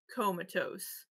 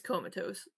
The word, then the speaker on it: comatose: it should be pronounced comatose i mean comatose i mean the o can make that sound but it's comatose and i know she's